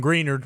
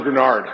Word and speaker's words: Greenard: dline or what JJ first off it's Jonathan grenard so close you're so close can't trust that gosh